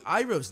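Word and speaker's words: Iroh: my people are dying they say ira's name wrong general hero i'm glad you could accept my invitation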